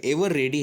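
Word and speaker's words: Eveready: दोस्तों, आपने बचपन से ये सेल तो इस्तेमाल किए ही होंगे, पर क्या आप इसका प्रोनाउंसिएशन एवरीडे करते हो? तो आप गलत हो। इसका सही प्रोनाउंसिएशन एवर रेडी है।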